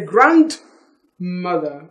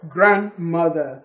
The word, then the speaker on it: grandmother: use the word grandmother you no longer say grant mother it is once again my grandmother didn't say grant mother